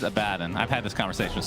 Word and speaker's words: Abaddon: i got i got the correct pronunciation is a bad and i've had this conversation